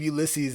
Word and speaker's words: Ulysses: that's right but yeah i believe ulysses is the is the correct pronunciation of his name he's a record producer